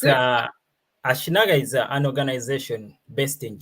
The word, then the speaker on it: Ashinaga: So, can you tell us Ashinaga? Am I pronouncing it correctly in the first place? Yes, yeah, perfect. It's Ashinaga is Yeah.